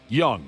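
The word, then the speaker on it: Jung: Josh Young is how you say it.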